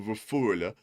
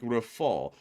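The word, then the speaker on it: Rafale: And we also have a 20 from Joby who said the L at the end of Rafool means that it's pronunciated something like rafall with both a pronunciated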